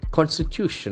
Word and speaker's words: constitution: See the accent falls on the third syllable.